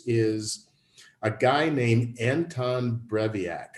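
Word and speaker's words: Breivik: a guy named anton breviac i may be mispronouncing his last name but i think it's b-r-e-i-e-v-a-k he's from norway he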